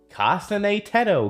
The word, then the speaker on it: Kasane Teto: And that is with that is a vocal a Vocaloid song by Kasane Tedto pronounced Kasane Tedto because I'm tired of getting flames for that in my comment section.